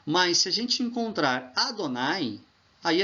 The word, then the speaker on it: Adonai: Eles colocaram, aqui no lugar do Adoni, colocaram o outro sinal do A, que é o Kametz, ok? Então, virou Adonai. Olha aqui, ó, como é que se escreve Adonai em hebraico. Tá vendo? Aleph, aí depois o Dalet, depois o Nun, depois o Yud. Do mesmo jeito que se escreve Adoni. Só que com o A aqui, você vai ler Adonai.